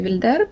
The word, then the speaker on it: Wilder: that i mentioned above it is called wilder or wilder i think the right one to pronounce it will be wilder because the main character her name is rose wilder comes from the german-speaking part of switzerland so and the story